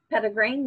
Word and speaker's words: Petitgrain: Petitgrain, yep. What is it? Can you spell it for me? Yes, it's Petitgrain. Okay. It's like petite and then grain.